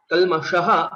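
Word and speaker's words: कल्मषः: Kalmashaha. Again, shakara. We'll have to ensure we pronounce it rightly by rolling back our tongue.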